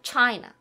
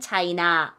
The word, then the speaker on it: China: 근데 미국 사람들은 영어에서는 되게 앞에 China. 그쵸? 나가 살짝 발음나. China. 우리는 China 이렇게 발음하고요. Japanese. 그래서 뒷발음이 외국 영어는 약간 좀 죽어요.